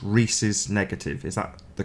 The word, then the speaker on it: Rhesus: It's Rhesus negative. Is that the correct pronunciation?